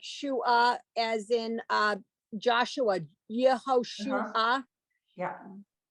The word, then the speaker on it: Yehoshua: as in uh Joshua yehoshua yeah you get the two vowel sounds next to each other